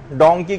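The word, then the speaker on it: donkey: کہہ دیں ایسے ہی مثلا ڈونکی کے بجائے ڈنکی کہہ دیں تو ہنسنے لگتے ہیں کہ بھئی آپ کو دیکھیے تلفظ صحیح نہیں ہے اس سلسلے.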